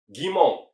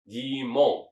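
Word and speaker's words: 疑問: Kalian ada yang tahu tidak kalau misalkan kanjiutaga tersebut ditambah dengan mong bacanya adalah gimong yaitu adalah meragukan sesuatu ya gimong.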